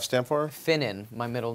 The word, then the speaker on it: Finnen: what what's the f stand for finnen my middle name oh how do you spell that f i n NE n wow I